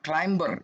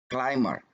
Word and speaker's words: climber: GTA tapi pamer eh klaim ya bukan Climber tapi claimer jadi huruf b disana dia tidak di ucapkan kemudian aturan nomor 6